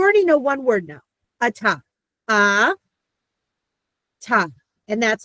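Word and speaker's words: אתה: you are now learning, the hey at the end of a word is a silent. And I know there's lots of words. Don't worry about that yet. I'm just saying that you now know your first word, a ta, you for male.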